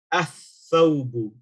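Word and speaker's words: الثَّوْبُ: So this lam here is not pronounced. You will say athawbu, athawbu.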